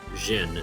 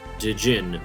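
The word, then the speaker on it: Djinn: I have it on good authority that it's pronounced Jin not dein or diini as it was so often called around the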